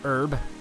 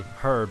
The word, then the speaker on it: herb: treasure back here medicinal herb it bothers me when I hear someone say herb as herb is it a silent H I don't think it's